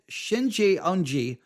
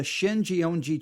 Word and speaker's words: Shincheonji: Shinjeonji is spelled SHINCHEONJI.